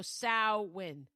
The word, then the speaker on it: Samhain: Okay, here's the other pronunciation of Samween, which makes me sound like an ass if it's right. And I said the other way all wrong. Are you ready? The other pronunciation is so win or sin. Sin H is s is sa right like a sa okay so sa win sin that is the way I have heard it in the past not